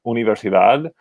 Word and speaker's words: universidad: universidad we see that la universidad ends in the letter d so we know that according to the rules we've learned that you would pronounce the stress on the last syllable because it's a consonant